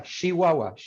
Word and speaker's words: Chihuahua: Chihuahua. That's what I'm going to say. So it comes out, it's spelled that this phoneme right here, this phoneme, ch, but it comes out sh.